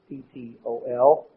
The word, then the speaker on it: Ptolemy: Egypt, were the Ptolemies, that's spelled with a P, Ptolemy, and he emerged in the south, and these were the two primary ones.